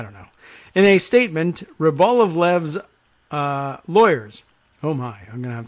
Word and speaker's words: Rybolovlev: It's Rybolovlev. I guess I didn't realize it was another L in there. Rybolovlev.